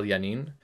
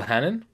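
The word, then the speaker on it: Janín: kennedy johnson and michael janine um michael hannon yeah in spanish virginia's pronounced as an h oh i thought he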